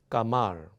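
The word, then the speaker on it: 카말: 까말. 예. 예. 이게 점이 들어가 있으면 강하게 발음합니다. 그래서 까말로 발음합니다.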